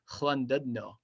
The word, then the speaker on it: Llandudno: I think it's something like that, but it's pronounced Llandudno. And you have to do like this roll with your tongue.